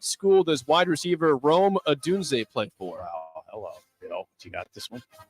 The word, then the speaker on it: Odunze: What school does wide receiver Rome Odunze play for? Wow, hello. Bill, you got this one? I need a lifeline. Boy, I should know this one. Say his name again, Roma Doozy.